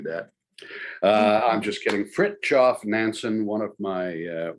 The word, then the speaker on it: Fridtjof: to referred to the man in question as frigid manson now she's not wrong um i'm sure he spent most of his life rather cold but it's actually fritz off so i'm going to um just to start